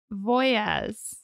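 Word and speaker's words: Wojas: okay so we're gonna start Pam's maiden name was actually Pamela Ann voyes but it's spelled w-o-j-a-s okay she was born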